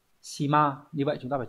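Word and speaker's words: 島: Hòn đảo đọc là shima.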